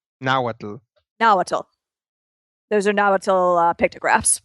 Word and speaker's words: Nahuatl: Yeah, that is I'm blanking on how you pronounce it. Nahuatl? Nahuatl.